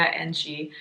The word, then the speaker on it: Njie: video and I'm wrong apparently pronounce Maya Angie and this is a